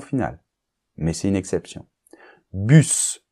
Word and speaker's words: bus: mais c'est une exception bus on prononce le S chair on prononce le